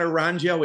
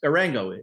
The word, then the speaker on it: Arango: So it's not, I thought it's not Arango. It's not Aranjo. It's Arango. We had it right, huh?